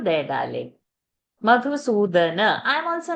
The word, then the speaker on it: मधुसूदन: Madhusudana. I'm also not chanting it. Why are you developing a wrong pronunciation? Madhusudana.